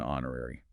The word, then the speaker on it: honorary: And the point was the silent H in honorary.